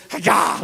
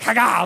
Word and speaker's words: haga: The word is haga, like literally that's how you say it, like haga, like you gotta jump on, right?